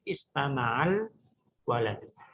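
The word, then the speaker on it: استمع الولد: Demikian juga istama'a al waladu. Kita membacanya istama'al waladu.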